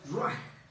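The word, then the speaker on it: רוּחַ: En hebreo, la palabra espíritu es ruach. Ruach. Se escribe ruach. R-U-A-C-H. R-U-A-C-H. Entonces se pronuncia ruach.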